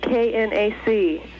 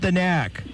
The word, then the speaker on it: KNAC: Well, I just want to remind you, if you could please call it KNAC. Not the knack.